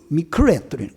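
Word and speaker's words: מקרה: 그래서 이 우연이라고 하는 이 말을 히브리어 성경에서 찾아보니까 이 단어는 미크레 그런 발음이에요.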